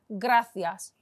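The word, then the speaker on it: gracias: موی بین خیلی خوب گراسیاس تشکر گراسیاس تشکر گراسیاس ببینید سی رو چه جوری تلفظ میکن گرا سیاس تشکر حالا میتونیم بگیم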